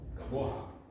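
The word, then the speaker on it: גבוה: And you pronounce it, if you're pronouncing it correctly, you should pronounce the ha, gavoha.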